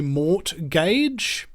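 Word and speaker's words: mortgage: You go in, you ask for a home loan, they give you a mort gage. Why do I say it like that? Mort like mentality. All right? Uh gage like grip.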